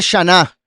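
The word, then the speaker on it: שנה: Año en hebreo se pronuncia shaná. Shaná."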